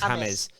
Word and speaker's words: James: They said, oh, we pronounce James James. And I'm like, but it's James though. But yeah, it's the same name, just in a different language.